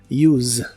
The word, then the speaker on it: use: de inglés es use la pronunciación normalmente termina con el sonido vibrante de la s que es como se suele pronunciar la Z en inglés use y puedes usar este